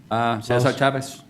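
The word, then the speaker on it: César Chávez: How'd I do with the pronunciation, Councilmember Lopez? Cesar Chavez.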